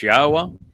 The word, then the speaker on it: Yahweh: the fact that God's name is pronounced as Yahweh and that the uh Torah means teaching not